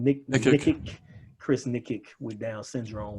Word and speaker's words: Nikic: Nikic.